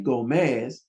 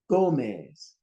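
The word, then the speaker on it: Gómez: Don't say Gomez, say Gomez. See, jabón, not jabón. Honor wherever the accent is.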